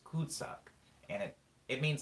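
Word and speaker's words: cul-de-sac: act cool the second French is pronounced could suck and it it means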